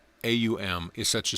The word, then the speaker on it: AUM: basis of all sounds the first letter a is the root sound the key pronounced without touching any part of the tongue or pallet M represents the last sound in the series being produced by the closed lips and the U rolls from the very root to the